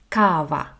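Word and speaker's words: кава: of all it's coffee so in Ukrainian that's cavaa Cava Al if you want cappuccino or latte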